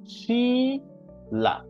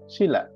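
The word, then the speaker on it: Sheela: তাহলে hello Raju, hello শিলা, Raju, শিলা, শি, দেখেন বড় করে উচ্চারণ হবে, ডাবল ই আছে। হ্যাঁ, শিলা।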